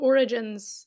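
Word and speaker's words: orogene: actual audiobook version versus in my mind I'm like origene yeah they look yeah it looks like genes but she pronounces it like Origins so they're called Origins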